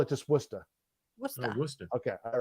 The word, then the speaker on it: Worcester: Do you know how we pronounce that word? How? Worcester. No, this is good because we don't want to sound like we don't know what we're talking about. There's no R in it.